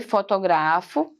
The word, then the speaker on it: fotografo: Olha só a sílaba mais forte. Fotografo, tá? É diferente de fotográficos. O gra é mais forte, ó. Ela é proparoxítona aqui, ó. E aqui ela é paroxítona, porque o gra é mais forte aqui, ó.